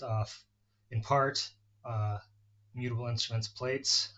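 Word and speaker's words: Plaits: It's based off, in part, mutable instruments plates, or plats, I guess is how it's pronounced, um, which is a multi-oscillator model oscillator for Eurorack.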